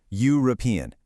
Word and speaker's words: European: But listen to the sound European. That Y sound is a consonant sound.